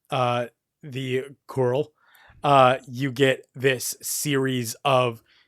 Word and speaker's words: Coeurl: Yeah, but it is a fantasy creature called the Coeurl. Coeurl. C-O-E-U-R-L? Coeurl. Coeurl. Yes. It's French Canadian, so you know. Yeah, that makes you sense. probably gotta yes. erase most of those letters in there.